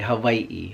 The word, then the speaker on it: Hawaiʻi: an Okie now and if you notice when I say Hawaii you want to make sure you're saying it the right way Hawaii Hawaii all right with